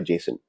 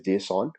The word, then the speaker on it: JSON: okay so there is some people say that as a Jason some people call it as a JSON okay so actual the pronunciation is JSON but the standard pronunciation industry we use it's Jason okay so you can either it's up to you most I call it Jason okay so what is